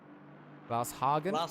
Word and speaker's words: Glasshagen: So it's Glasshagen. Glasshagen. That's how you say it. So it's like you extend the word glass, and then you just have Hagen on the end.